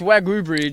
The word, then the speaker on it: Wagi Bridge: So it's Wagyu Bridge, Wagyu even though as in- it's Wagi. Yes. Even though it's spelled Wagi, it's Wagyu. Yes.